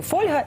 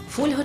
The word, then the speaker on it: фольга: Фольга чи фольга? Як правильно казати це слово? Українською правильно говорити фольга, а от російською наголос треба ставити на другий склад, тобто фольга.